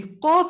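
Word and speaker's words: ق: Number 1, we said with the tongue, you're going to use a portion further to the back than the Kaaf. Number 2, the Kaaf is pronounced when the tongue touches the hard palate. The Qaaf is pronounced when the tongue, and we didn't know what portion of the tongue, back portion, touches the Qaaf, touches the soft palate.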